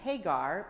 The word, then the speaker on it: Hagar: So, some interesting things about Hagar. First, her name. She is from Egypt, and yet her name, Hagar, which in Hebrew would be pronounced Hagar, means the foreigner or the foreign thing.